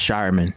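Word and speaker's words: Scheierman: Celtics picked Baylor Shearman. Shearman. Whatever, Shireman. I think it's Shireman. I think that's his actual pronunciation. Well, let me check the thing. I did. It's Shireman.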